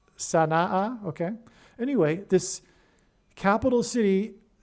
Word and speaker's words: Sana'a: Yemen, Sana'a, I believe, based on the apostrophe between the two A's, I believe it's pronounced Sana'a, okay?